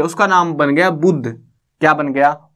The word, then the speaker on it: बुद्ध: ये बुद्धा नहीं है, ठीक है ना, इंग्लिश में बहुत सारे मतलब बोले जाएंगे ऐसे, बुद्धा बोलते हैं कई बार, ये बुद्ध है, ठीक है। ए साइलेंट रहता है इन वर्ड्स में ज्यादातर में, क्योंकि हिंदी का वर्ड है।